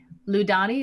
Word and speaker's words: Lludani: earlier uh yes uh her name uh is ludani wave crash and how do you spell that please somebody has the last name wave crash um ludani is spelled l-l-u-d-a-n-i wave crash that's very nice and